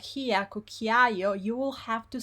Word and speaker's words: cucchiaio: But in Italian, unless it's this case ciao and ciao, the vowels are pronounced and you want to hear it properly. So it would be cucchiaio, cameriere. Every single syllable is pronounced properly.